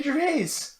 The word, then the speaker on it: Gervais: That's how he pronounces his name, Ricky Gervais. Ricky Gervais. He's English. He's not French.